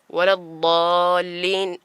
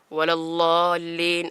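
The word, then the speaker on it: ولا الضالين: ഉദാഹരണത്തിന് സൂറത്തുൽ ഫാത്തിഹയുടെ അവസാന ഭാഗം വലദ്ദാല്ലീൻ എന്ന് പറയേണ്ടടുത്ത് നാം പലപ്പോഴും വലല്ലാല്ലീൻ എന്നാണ് പറയാറുള്ളത്. എന്നാൽ അവിടെ ദ്വാദിൻ്റെ ഉച്ചാരണം നാവിൻ്റെ ഒരു വശം ആ വശത്തോട് നേരെ ചേർന്നിരിക്കുന്ന അണപ്പല്ലിൻ്റെ ഉൾഭാഗത്തേക്ക് ചേർത്തിക്കൊണ്ടാണ്.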